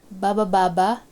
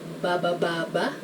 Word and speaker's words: baba baba: Baba baba, going down. This first one is actually a sentence and it's just made of one syllable, which is ba.